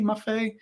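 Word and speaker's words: Maffei: and the perfumer uh Luca MAF do I pronounce his last name correctly maff yeah okay perfect just want to double check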